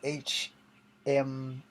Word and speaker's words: Hmong: In the home culture, I don't know how I said this right, but it's spelled HMONG, so it's like Hmong, I guess.